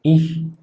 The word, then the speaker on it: ich: Entonces, CH en la mayor parte de los casos, en general, y sobre todo decimos cuando está después de vocal, la tendencia es que suena como una J. por ejemplo, en la palabra buh o en el pronombre sujeto ich, que podría, bueno, más